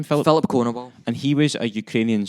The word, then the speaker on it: Filip Konowal: Filip Konowal.